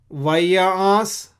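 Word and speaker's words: וַיַּעַשׂ: Vayas, this is Ain, I'm pronouncing as Nga.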